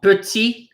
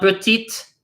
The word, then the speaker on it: petit: This is not petite, but petit. We do not pronounce that final T. This is not lent, this is lent. We do not pronounce the final T.